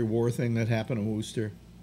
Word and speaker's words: Worcester: Yeah, it's actually pronounced Worcester. Worcester.